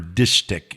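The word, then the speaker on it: distich: A dishtic is two line, or dishtic is actually how it's pronounced.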